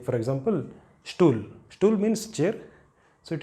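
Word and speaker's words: Stuhl: If it appears in the beginning of a word, you should pronounce it as st. Like there should be sh in the beginning. St. Like for example, stool.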